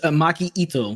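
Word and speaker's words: Maki Itoh: Okay, you say it better than I do, but it was Maki Ito.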